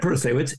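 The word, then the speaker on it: Protasiewicz: around something because I wasn't sure how to pronounce it. Yep. But it's Janet Protasewicz, and she won.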